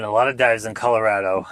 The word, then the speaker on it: Colorado: So first of all, Colorado, they pronounce Colorado as in it's rad, not Colorado.